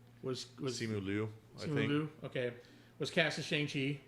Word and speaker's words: Simu Liu: Is that how you pronounce his name? Was Simu Liu? Simu Liu.